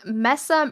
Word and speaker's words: Mesa: into this at some point, but, the West Mesa murders. Have you heard of that? The West Mesa murders refer to the Mesa?